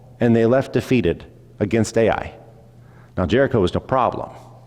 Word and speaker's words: Ai: short it's two letters if you can say both letters then you have pronounced it right there's an A and there's an i and that's the whole name it's the city of